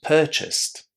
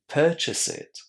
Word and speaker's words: purchased: But remember that if you do add an extra syllable, and for example, instead of saying purchased, you say purchase it, or instead of saying managed, you say manage it, what you're doing is you're actually giving me an order to purchase something or to manage something, right? Manage it. Do it. It's an order with that extra syllable, and you definitely don't